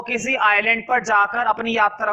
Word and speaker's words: Ile: कहां तक पहुंचाएंगे, किसी आइलैंड तक पहुंचाएंगे। और इनके पास वाला, सबसे पास वाला आइलैंड था आइल एम्स्टरडैम। स्पेलिंग लिखी हुई है ILE, आइल एम्स्टरडैम।